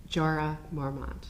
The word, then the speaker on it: Jorah Mormont: For example, Jorah Mormont.